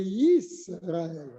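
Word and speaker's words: ישראל: Ce n'est pas Israël, ce n'est pas Israël, c'est Yisraël. Le Yud, c'est le schéma Yisraël. Il faut bien le dire, le Yud.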